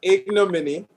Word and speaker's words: ignominy: It's ignominy.